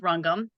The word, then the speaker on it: Rangam: So basically, Rangam, and it looks like Rangam, but we're pronounced Rangam.